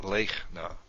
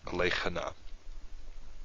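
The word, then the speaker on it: לֵכְנָה: But in fact, we don't pronounce it that way. We pronounce it lechna. So it's silent. It's marking the end of this closed syllable. It's not lechana.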